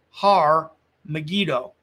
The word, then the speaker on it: Har Megiddo: mount megiddo okay and mount megiddo in hebrew would be pronounced har megiddo so har megido is where we get